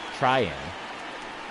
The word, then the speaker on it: Treinen: Tryon.